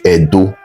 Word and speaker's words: Edo: Wherever you hear Ado or Yoruba people pronouncing Ado, they are still referring to Benin. They are referring to Edo. That's how they pronounce Edo.